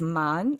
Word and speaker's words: 谩: And The reason why we know it's pronounced as man and it means deceive is because it's paired with qi, which is another way to say deceive.